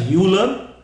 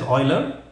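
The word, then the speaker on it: Euler: is pretty strong but I've been told the way to pronounce it is Oiler U and he was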